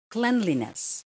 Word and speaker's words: cleanliness: it is pronunciation next cleanliness cleanliness not cleanliness okay it's cleanliness cleanliness third pestle pestle or